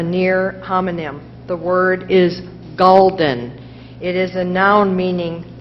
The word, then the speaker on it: gulden: The word is gulden.